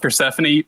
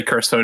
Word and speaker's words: Persephone: It's pronounced Persephone, but people just say Cursephone anyway.